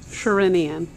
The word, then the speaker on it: Sherinian: No, I bought, now you got to pronounce the name for me. Derek Sherinian. Yeah, I don't know how to say it. Sherinian.